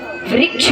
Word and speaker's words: वृक्ष: वृक्ष बोलेंगे, भाई ऋषि वाला रा लगा है तो वृक्ष नहीं होगा, वृक्ष होगा। उच्चारण का बड़ा महत्व होता है।